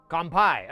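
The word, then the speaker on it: 乾杯: very beginning syllable kungpai I just asked the internet how do you say cheers in Japanese. When drinking. When drinking. There we go. Compai.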